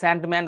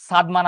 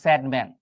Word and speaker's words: সাদমান: ভাই বাপ মা নাম রাখছে আসলে সাদমান আমার নাম, তারপরেও ইংরেজিতে আমার উচ্চারণটা হচ্ছে স্যাডম্যান, বাট আমি কিন্তু স্যাড না, আমাকে দেখে বোঝা যায়। কিন্তু ভাই স্যাডম্যান বললেও আমি মেনে নিব, কিন্তু স্যান্ডম্যান মানে বালু মানব, এটা তো কেমন হয়ে গেল না?